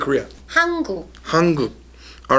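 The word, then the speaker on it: 한국: part of Korea how do you say Korea hungu hungu all right and the bottom part is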